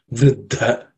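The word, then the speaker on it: vṛddha: So it has to be aspirated. Vriddha, okay, is the way to pronounce.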